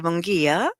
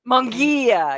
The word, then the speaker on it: Munguia: So this is Cynthia Munguia. Munguia.